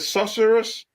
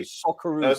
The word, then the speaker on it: Socceroos: Is it Sorcerers? I hope they win today. Socceroos they're called.